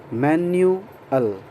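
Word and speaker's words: manual: ध्यान दें, मैनुअल, मैन्यूअल.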